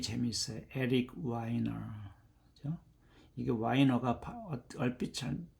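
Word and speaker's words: Weiner: 이게 와이너가 얼빛 뭐 발음을 하면 와이너 wh I N 와이널 그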